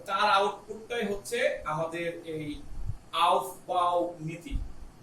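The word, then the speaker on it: Aufbau: অর্থাৎ ভি ও ইউ তো লাস্টে বারোটায়, এটাকে অনেকে আউফ গো বলে, আউফ গো। তো ভয় পায় না, লিখে একই জিনিস আমরা উচ্চারণ করতেছি আউফ বাউ নীতি।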